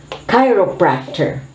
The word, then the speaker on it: chiropractor: poor so it's a gap it's a chasm chiropractor chiropractor this is a health care professional who